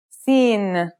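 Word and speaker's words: سين: start with sinen sinen sounds just like the English s it's very easy to pronounce let's see how it's written here's the isolated version seen now let's see the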